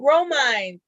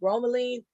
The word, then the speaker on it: bromelain: like yeah it's got the bromine uh bromelain of i think it's pronounced bromelain and that's um something